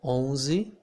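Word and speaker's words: onze: would say peng so we do not pronounce the n the n here in this situation makes the vowel that comes before of it become a nasal vowel okay so here i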